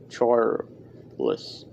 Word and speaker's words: Charles: flat and un inflicted he pronounced charles as if it had two full syllables charles the technician i've met